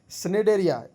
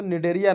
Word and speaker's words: Cnidaria: ठीक है, सेकंड में आते हैं जो कि इंपॉर्टेंट है, स्नेडेरिया। इसका नाम एक्चुअली सी होता है, साइलेंट होता है, तो निडेरिया नाम रहता है।